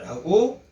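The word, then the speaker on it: רע: 있으며 또한 바로가 학대합니다 라고 기록하고 있습니다. 22절은 하나님이 우리를 학대하고 23절은 바로가 우리를 학대합니다 라고 기록하고 있습니다. 이 학대라는 히브리어는 라, 도레미 파솔라 할 때 그 라라는 로 히브리어를 발음합니다.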